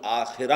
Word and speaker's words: آخرہ: کلا بل تحبون العاجلہ، تم عاجلہ سے محبت کرتے ہو۔ عاجلہ آخرہ کے مقابلے میں، آخرہ آخرت جسے ہم آخرت کہتے ہیں، عربی میں اس کا تلفظ آخرہ ہوگا۔ اس آخرہ کے مقابلے